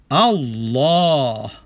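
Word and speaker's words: الله: betul adalah elll dan sebutan yang lebih tepat adalah Allah bunyi a disebut dengan dua harkat dan tidak boleh dipendekkan ke satu harkat jadi kita kena jaga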